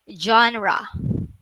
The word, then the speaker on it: genre: Okay, so everybody, kahit naka-turn off ang mic, everybody say genre. Genre. Okay, one more time. Genre. Genre. All right. Okay, now you know. Baka mula nung grade 4 to 6 ninyo, genre ang bigkas nyo, ha?